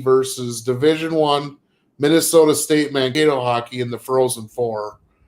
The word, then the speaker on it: Mankato: Yeah, Minnesota State Mankato is how they say it.